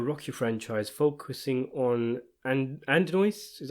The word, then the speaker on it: Adonis: continuation of the rocky franchise focusing on and and noise is how you pronounce it ad noise johnson the son of apollo creed and his